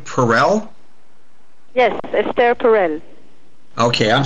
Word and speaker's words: Perel: of the things that did you say you pronounce your last name Perell yes Ester perel okay I'm sorry Ester Perell